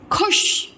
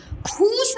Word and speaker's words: खुश: खा में छोटा हो की मात्रा खू और श, खुश। खूस नहीं होता है, खा में अगर बड़ा हो की मात्रा का हो जाएगा वो खू, खूस नहीं होता है, खुश, खू, खुश।